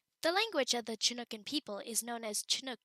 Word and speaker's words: Chinook: Regionally, tribal areas of the Pacific Northwest use a soft sh sound, while those in central Washington and Canada pronounce the hard ch sound. The language of the Chinookan people is known as